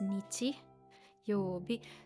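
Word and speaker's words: 日曜日: Okay, but this one is pronounced nichi, and the last one is bi, and altogether nichiyobi.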